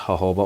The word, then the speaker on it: jojoba: I know it looks like jojoba oil, but it's pronounced jojoba oil.